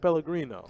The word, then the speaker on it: Pellegrino: Not the Pellegrino. I think I said it right. Yeah, you said it right. Did I? Yeah. I didn't get the accent with it, but I tried my best. You were close.